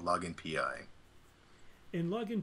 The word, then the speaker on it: PI: oh that that's why we'd spell it out or we pronounce both letters we call it P I so think of it